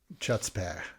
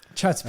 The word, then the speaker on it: chutzpah: You like the guttural CH there? It's Yiddish, isn't it? I don't know. Maybe. I could be wrong. Chutzpah. Chutzpah.